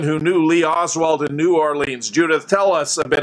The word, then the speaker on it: New Orleans: leave and he said it isn't pronounced that way it's pronounced New Orleans he said I almost